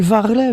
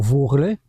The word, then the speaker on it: varlet: Quel varlet voit taper les mains sous bixeuch les longs joues de l'esté. Varlet, ou, comme on prononce pour vorlet, c'est quoi de ça?